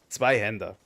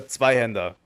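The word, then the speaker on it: Zweihänder: Zweihander. I'm going to use the German pronunciation, fuck you. It's a Zweihander.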